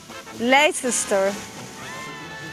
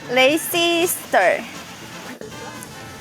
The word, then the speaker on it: Leicester: Leicester. Leicester. Leicester.